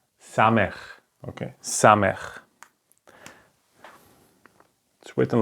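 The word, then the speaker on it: Samekh: so the circle is Sameer Sameer it's pronounced like s okay for example in the word so it's just a simple s okay so this is called Samir the next consonant is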